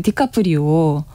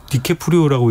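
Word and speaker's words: DiCaprio: 그 디카프리오. 디케프리오라고 읽어야 되는데. 디케프리오, 그쵸.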